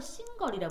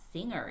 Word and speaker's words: singer: 이거를 싱걸이라 부르는 애들이 있는데 싱걸이 아니라 뭐다? singer 이렇게 발음합니다.